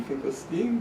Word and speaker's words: Finkelstein: If you're a German, EI is pronounced like I, Oh. and IE like E, but my parents pronounced it E like E, Finkelstein, so that's what I do.